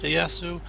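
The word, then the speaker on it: Ieyasu: Iyasu, they pronounce it, Iyasu.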